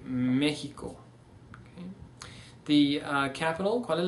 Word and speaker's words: México: So instead of saying Mexico, we see México.